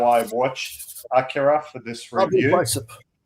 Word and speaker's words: Akira: the correct pronunciation. Sorry, that's thumbs up. Yeah, yeah, yeah. Thank you. Dude, Yeah, that's the Japanese way of pronouncing it.